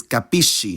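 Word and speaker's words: capisci: the present tenses but notice how that cluster changes pronunciation depending on the following vowel I understand is capisco but you understand is capish same applies for de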